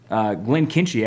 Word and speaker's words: Glenkinchie: Glenkinchie actually follows the Chimichanga protocol. You know what? That's one of my favorite protocols. And it's that softer CH.